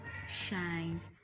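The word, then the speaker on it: sinh: like the hyperbolic function instead of we having sine X it is called shine X yes this new letter introduced in it which is the H to make it shine y cos is pronounced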